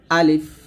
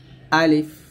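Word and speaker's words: ألف: আলিফ এটা আমরা নাকি আলিফ বলি মানে লাস্টে দুইটা ঠোঁট মিল করে ফেলি তো দুই ঠোঁট মিল করবেন না বলবেন আলিফ আলিফ এরকম ভাবে তারপরে এটা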